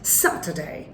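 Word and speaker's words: Saturday: ভিডিওতে ছিল এবং সাতবারের নামের প্রত্যেকটা নামের প্রথমে স্ট্রেস দিতে হবে উচ্চারণ হবে স্যাটারডে ডে নট ডে সানডে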